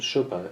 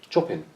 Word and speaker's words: Chopin: Well, it isn't Chopin. It's Chopin. Is that the pronunciation? Because he was Polish.